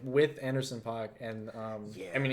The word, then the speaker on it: Anderson .Paak: a lot of Anderson .Paak. It was really good. Yes, that's right. That's the correct way It's to amazing.